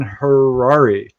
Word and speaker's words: Harary: If you haven't figured it out, our guest tonight is the amazing Harrari. Rhymes with Ferrari.